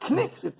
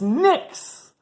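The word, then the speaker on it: Knicks: for the fifth time it's not kcks it's a silent k it's Nicks and the rebi goes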